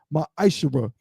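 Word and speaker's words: מעשר: And Malachi 3:es 8-10 means 10th in Hebrew is pronounced myisher.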